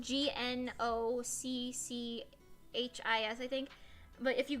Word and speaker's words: gnocchi: saying and to this day she still says nazis instead of no keys she just insists that it's because she grew